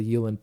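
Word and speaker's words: uilleann: the last solo is a Yulin pipe which is spelled like Eileen kind of and it's a yeah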